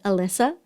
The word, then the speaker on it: Elisa: And I put her information down below because talking to Elisa, and by the way, I pronounce her name Elisa the Spanish way. It's actually pronounced Elisa.